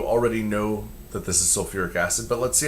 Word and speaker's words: sulfuric: But this isn't sulfic acid, it's sulfuric acid. They add that little extra syllable in there to make it a little easier to say.